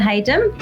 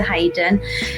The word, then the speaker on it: Hayden: name which is Hayden um people often wonder how to pronounce that so it's uh you say it's almost like it's got the Y in but it doesn't have the yin so I live in